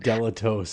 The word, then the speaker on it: Dilettoso: We got Jim Dilettoso on tonight. Dilettoso. I'm glad that you fixed that for me right away. Oh, good. Dilettoso.